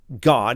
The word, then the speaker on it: Gad: You can have God here, okay, the children of God, the tribe of God. That's that's the way that it would be pronounced in the Hebrew.